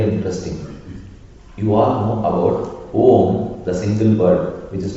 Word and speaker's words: Om: If you dissect, if you put it on a table and dissect, you will get three syllables. A, U, Ma. A plus U, it becomes O. It's known as Samyuktakshara, the conjugation. The conjugation becomes A plus U is O. Again add M, Om. A, U, Ma. The three syllables together make up the word Om.